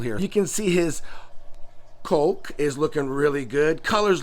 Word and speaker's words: kok: But from what Julie said, it's pronounced coke, like what we drink, COKE, but it's spelt KOK. That hump right there, yeah, it's called a coke, not cock.